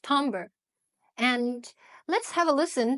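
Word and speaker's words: timbre: Fifth Element is tomber it looks like Timber but it's pronounced tomber and let's have a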